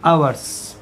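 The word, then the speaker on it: hours: तो फॉर 2 आवर्स, यहाँ H silent रहेगा और हम इसको पढ़ेंगे आवर्स।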